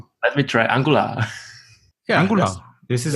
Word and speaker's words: Angular: Yeah, Angular. This is how you say it. Well, Tomas, you weren't here last week. We officially have corrected the pronunciation. The official way to pronounce Angular is Angular.